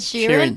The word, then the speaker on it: Sheeran: Is that how you say Sharon? Ed Sheeran. Sharon. Sheeran. Sharon. Sheeran. That's how they say He got it them in- crazy ass eyes though. But anyways, does. yeah. No, that's how they say it in the King's English.